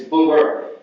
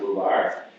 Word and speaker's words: Boober: It's Boober. Boober. Boober. Now some people pronounce it Boobar, whatever you like to do.